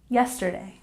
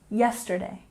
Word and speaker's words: yesterday: syllable meeting meeting and yesterday emphasis on the first syllable yesterday yesterday and 26 find out